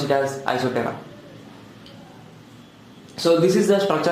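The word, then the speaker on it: Isoptera: to the subwater isoterror here p will be silent you should pronounce it as isothera so this is the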